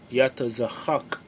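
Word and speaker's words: יצחק: And in the Hebrew, the Paleo Hebrew, the way you pronounce it is Yatazachak, Yatazachak, right?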